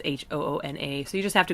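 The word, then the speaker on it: Hoonah: I think it's spelled at Huna, which is a really common misspelling, and it's Hoona.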